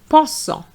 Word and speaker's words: pensant: Pensant. The ANT is en. Pense, pensant. So I'm going to repeat. Euro, heureux. Jeune, jaune. On fait, en fait. Pense, pensant.